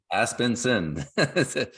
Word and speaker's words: Aspenson: pronounce your last name aspenson Aspen sin just like it's spelled right so and he's